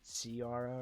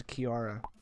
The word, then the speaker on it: Kiara: other names like Kiara you would think it would have like a c sounding like carara or something but now I found out was Kiara I'm like I've been saying it wrong this whole time um please don't you